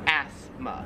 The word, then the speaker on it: asthma: australia it's pronounced asthma we kind of say it more like a z sound like asthma where here it's more like a like an s sound like asma 13 is this plant we